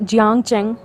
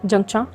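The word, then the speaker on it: Jiang Cheng: तो रीज़न है क्योंकि जो चाइनीज प्रोनाउंसिएशन है उसमें जंगचा, लोवांगची और लंजा है, ना कि जियांगचेंग, लेनवांगची या लेनजेन है।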